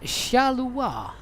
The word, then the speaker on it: Charleroi: it yet that bani charleroi is pronounced shaluwar really that can't be right can it shalom i thought it was at least charla roy uh smooth i've ever